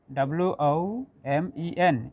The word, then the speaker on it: women: So notice here, I am pronouncing man, men, Oman, women, WOMEN, it is pronounced women.